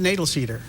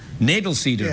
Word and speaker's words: Knoedelseder: do you pronounce your second name beau I pronounce it natal cedar natal cedar others pronounce it other ways but yeah I'm